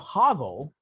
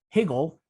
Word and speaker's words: Hoggle: The character of Hoggle has his name mispronounced a number of times by Sarah and Jareth throughout the film. These include Higgle, Hogbrain, and the name of what future fictional school for witchcraft and wizardry?